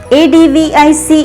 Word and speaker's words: advice: ADVICE is pronounced as advice. Ending words VICE are pronounced as wise.